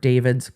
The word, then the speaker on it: D4VD: found dead and singer David's car. Again, David, spelled D4VD. I'm always going to just pronounce it David. His name's David.